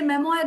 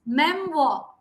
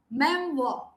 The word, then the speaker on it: memoir: If you go by the spelling, yes, you all tend to say memoir, but the actual pronunciation, do you want to listen to it? It is memoir, memoir.